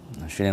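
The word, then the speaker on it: ش: যায় সেটি আমরা দেখব শিনের মাখরাজ হলো জিহ্বার মধ্যখান তার বরাবর উপরে তালুর সঙ্গে লাগিয়া জিম শিন ইয়া এই তিনটি হরফ উচ্চারিত হয় আসুন আমরা প্র্যাকটিক্যাল দেখি শিন উচ্চারণের সময় হালকা করে দাঁতের মাঝখানে ফাঁকা থাকবে এক আঙ্গুলের কম শিন শি শা শি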